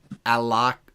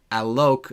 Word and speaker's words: Alok: And it's Alok Alok, it rhymes with joke.